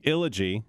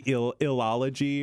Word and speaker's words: Illogy: It's like trilogy, but ill. My mind kept wanting to add another syllable in there, like the illology. The illology, yeah. But it's not. It's Illogy.